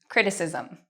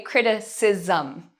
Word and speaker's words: criticism: So we would say criticism. Okay, can you say that? Criticism. Okay, so this actually becomes almost like ism.